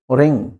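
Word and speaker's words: wring: इसलिए इसको बोला जाता है रॉन्ग because W is silent. Russell's राइट? रिंग कपड़े निचोड़ने को बोलते हैं।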